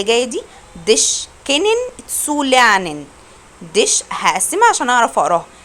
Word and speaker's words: lernen: Dich kennen zu lernen. Dich هقسمها عشان أعرف أقراها. Dich kennen zu lernen. حرف الإر أنا ما نطقتوش عشان قبليه فوقال.